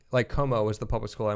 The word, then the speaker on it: Comeaux: So Como is spelled Cajun, like we were talking about. Wait. COMEAUX.